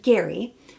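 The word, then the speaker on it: Gerry: we meet Gary Jerry it's spelled but it's pronounced Gary our new 71 year old Bachelor who is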